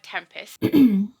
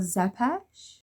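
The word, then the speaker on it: Țepeș: normally am I alukard Tempest I believe that's actually pronounced Alucard zepes son of Count Dracula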